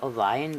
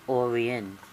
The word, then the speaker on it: Orion: Orion, not Orion. A lot of people call the brand Orion, but it's actually pronounced Orion, like Orion. So that's how you really pronounce it.